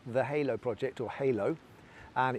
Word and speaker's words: Halow: So my chosen charity is called The Halo Project, or Halo, and it's spelled H-A-L-O-W, and they are the initials of the founders' children's, so we're all parents of young people with learning disabilities.